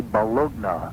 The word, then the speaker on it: bologna: It would always be, on sale at, Dairy Mart, grade A Bologna. Right. I mean, it's like there's an official and unofficial pronunciation.